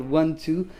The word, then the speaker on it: I:II: it it's everywhere no we just say one and two yeah so for the record one two maya salovey the first